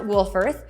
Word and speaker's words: Wolfforth: do you say it again well it is pronounced wolfirth spelled w-o-l-f-f-o-r-t-h and Wolfforth is just Southwest of Lubbock not